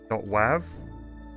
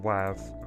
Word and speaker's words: WAV: Maybe I need to call it .wav. Nope. Tend to index nil with WAV.